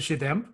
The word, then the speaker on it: Shade MP: And I've gotten Shade MP as I say it. So Yeah. I know I pronounce it Shademp, but yeah, I think it is supposed to be Shade MP.